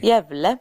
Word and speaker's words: Gävle: You can look it up, look up the pronunciation. G-A umlaut, the umlaut over the A, VLE. Jävle.